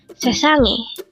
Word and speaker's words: 세상이: Sesangi. Sesangi. This is pronounced as a three-syllable word. The first syllable is se, second syllable is sang, and third syllable is i.